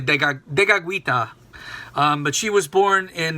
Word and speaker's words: Tekakwitha: of Saint Kateri Tekakwitha, as it's said in Mohawk, Tekakwitha. I don't know how people say it in English. I actually know the Mohawk pronunciation better than the English. But it's really Tekakwitha.